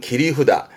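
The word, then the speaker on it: 切り札: 네, 일종의 비장의 카드, 히든 카드 같은 개념인데 발음은 기리후다.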